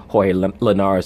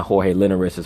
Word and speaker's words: Jorge Linares: with fighters because you'll see how this person pronounces hoy Linares his name he's not familiar with him is now Jorge Lin arisa's Jorge Linares against the world number one pound-for-pound